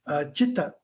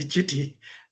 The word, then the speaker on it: città: C is pronounced as that. So it is actually citti, città. That's the word, a city, a place that everything is together.